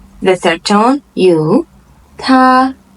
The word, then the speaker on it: 他: 他 First tone, he.